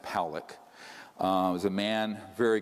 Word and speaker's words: Poock: 600,000 views this man William poock is pronounced Pock uh was a man